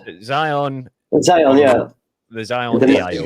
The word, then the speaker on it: Zion: I've got the Zion. I think that's how you pronounce it. Zion.